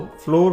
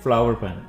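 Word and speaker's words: flour: अक्सर लोग इसको फ्लोर पढ़ते हैं, तो ये गलत प्रोनाउंसिएशन है, आपने इसे फ्लावर पढ़ना है, फ्लावर।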